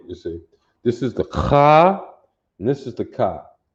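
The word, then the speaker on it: خاء: What's significant about this one is it's pronounced Kha. You hear that guttural sound in your throat as opposed to Ka, which is a K-A over here, you see. This is the Kha, and this is the Ka.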